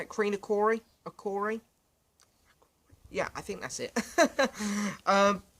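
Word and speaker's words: Kreen-Akrore: And then, of course, we're going to close the album with a song called Creen Acor. Acor? I think that's how you say it. Creen Acori?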